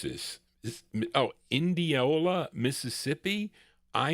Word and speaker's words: Indianola: How do you pronounce this? Oh, Indianola, Mississippi. I N D I A N O L A Indianola.